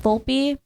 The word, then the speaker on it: Volpe: until recently where I realized that it's pronounced Volpe I asked at the